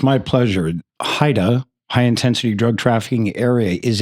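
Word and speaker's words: HIDTA: Trafficking Area, better known as is, am I pronouncing it right? HIDA or just HIDA is better. We affectionately call it Haida. Haida.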